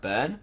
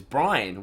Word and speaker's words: Byrne: Sam's last name is pronounced Byrne. Oh, is it? I thought it was always Brian.